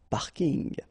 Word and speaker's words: parking: So I know it's coming from English, but still you should pronounce it the French way. Parking unl.